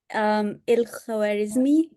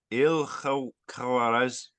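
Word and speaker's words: الخوارزمي: Yeah, so it's Il-Khwarizmi. It's a pretty Arabic name, so Yeah. Il understandable. Il-Khwarizmi.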